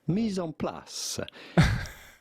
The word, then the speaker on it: mise en place: From French, mise en place. Mise en place. Okay. Mise en place. It is like Nissan.